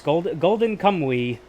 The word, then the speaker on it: Golden Kamui: It's more yes, Golden Kamui. It does sound like that. That is how you pronounce it.